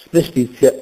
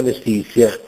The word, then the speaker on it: mestizia: raddoppiata Letizia è raddoppiata mestizia è raddoppiata si sente a volte pronunciato male arguzia Letizia mestizia A proposito di consonanze